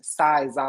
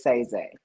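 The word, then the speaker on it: Saiizaii: z a i i a lot of people pronounced it um Sai Z because my people also call me Sai but it was say Z it was too many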